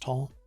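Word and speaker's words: Taal: alert level for tahul t-a-a-l volcano was raised i think it's pronounced tall was raised from level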